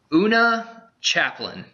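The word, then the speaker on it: Oona Chaplin: Una Chaplin. And if you don't, beautiful. I'm pretty sure that's how you pronounce it.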